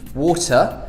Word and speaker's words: water: like a D but in the British accent the T is a t water or not at all mr.